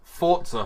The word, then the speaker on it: Forza: Somehow he adds a T into it. It's Forza Horizon.